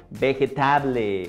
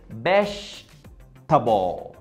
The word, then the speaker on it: vegetable: Entonces, yo he escuchado a gente que dice vegetable o vegetable o algo así. Pero realmente es vegetable. Vegetable. Vegetable. Hey, I want to eat some vegetables. Vegetable. Table. Vegetable. Vegetable, obviamente no funciona.